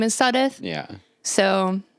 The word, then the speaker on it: Sudduth: my last name is Sudduth yeah so I think most people usually mispronounce it saying seduced yes I do this